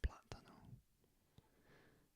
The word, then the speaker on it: plátano: And the accent is on the A here, plátano.